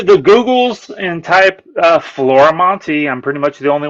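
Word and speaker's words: Florimonte: go on to the Googles and type uh Flora Monty I'm pretty much the only one doing comics and you spell it as you can see on there f-l-o-r-i-m-o-n-t-e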